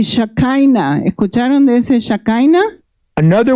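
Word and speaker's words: שכינה: Pero en hebreo es Shekhinah. Shekhinah. It's when God's glory falls down, but the pronunciation in Hebrew is Shekinah.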